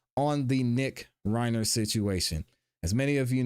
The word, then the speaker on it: Reiner: on the fact that I pronounced it wrong last time. So, I am sorry. It is Reiner.